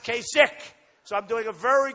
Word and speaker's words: Kasich: name Kasich it's I every time I see it I say kich but is pronounced kasik so I'm doing a